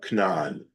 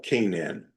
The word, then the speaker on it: Canaan: Joshua's instructions uh to the people uh and entrance into and conquest of uh Cananan. Okay. uh Canaan, right? That's how you pronounce Canaan.